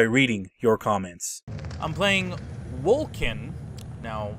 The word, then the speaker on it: Wolcen: your comments I'm playing Vulcan now I am pronouncing it right because it is an old English word for sunless shield that's what I that's